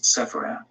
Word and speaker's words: Sepharad: Sephardim, as mentioned earlier, is pronounced in the plural in Hebrew, while in the singular it is Sepharad.